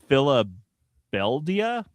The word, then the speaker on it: Filibelia: Um, it's also set in this that city is called Filibelia, which looks like it's spelled Philadelphia, but it's Phil Filibel Filibelia.